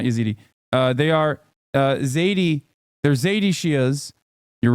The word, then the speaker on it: Zaidi: Zaidi, not Yazidi. Sorry, not Yazidi. They are Zaidi.